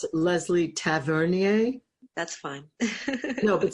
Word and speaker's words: Tavernier: Like Leslie Tavernier? That's fine. No, but say it how you say it. I say Tavernier, but that's the actual French way, the way Yeah, you okay, I speak French.